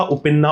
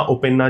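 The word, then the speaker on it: Uppena: उपिन्ना, ओपिन्ना जैसे भी प्रोनाउंस करते हैं।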